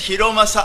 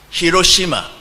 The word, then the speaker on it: Hiromasa: My name is Hiromasa. Amen? Amém. Sometimes this 日本語だ。Sorry. Sorry. Sometimes the English speaking people called me Hiroshima. Because my name is Hiromasa. They cannot pronounce it. So sometimes Hiromasa no Hiroshima.